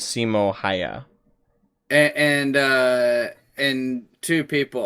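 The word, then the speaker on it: Simo Häyhä: no i think that's the correct pronunciation is simo haya and uh and two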